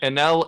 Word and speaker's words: Enel: And Enel and Enaru are just different pronunciations, right?